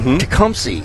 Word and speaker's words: Tecumseh: And I just found out Tecumseh is how it's said. And that E is not there.